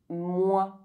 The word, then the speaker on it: moi: OI is pronounced oi. Moi.